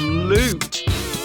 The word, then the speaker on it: loot: The first one is flood, and the second one is loot. The OO in flood has an sound, whereas the OO in loot has an oo sound.